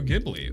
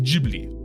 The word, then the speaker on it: Ghibli: From the Valley of Spirits, the film that led to the establishment of Studio Ghibli. Ooh, it's pronounced Ghibli. Ah, it's pronounced Ghibli. It's spelled Ghibli because the name came from an Italian fighter plane that Miyazaki loved.